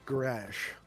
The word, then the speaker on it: Graz: It is a Z, but it's pronounced Grash.